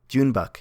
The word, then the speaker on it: Joon-baek: Junebuck, you said Kim right.